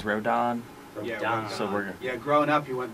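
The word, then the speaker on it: Rodón: it is now uh rhodan rodent i always said rodon when i was listening yesterday it's don yeah the don i just checked the baseball reference pronunciation and it is rodon yeah growing up you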